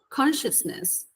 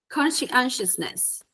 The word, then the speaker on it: conscientiousness: Now, guys, I have issues pronouncing this word to the fact that, because it's not consciousness, it's completely different. Okay, is conscientiousness. And I'm just going to say it once, and I just did.